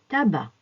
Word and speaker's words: tabac: qu'on ne prononce pas AC se prononce a l'estomac le tabac à la fin des mots